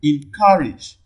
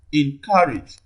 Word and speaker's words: encourage: primary stress okay d encourage encourage the primary stress first on the second syllable too so the only